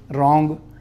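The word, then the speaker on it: wrong: N G है ना रोंग लगया W आ बट इट is pronounced as रोंग फिर एक चीज होर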